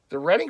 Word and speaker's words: Reading: And yes, it's pronounced Reading, not Reading. It looks like Reading, but it's Reading. That's the name of the town.